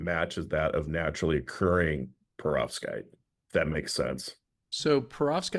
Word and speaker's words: perovskite: what we're going to talk about today is pervoskite did I pronounce it right pretty close perovskite yeah perovskite you know what's kind of cool about it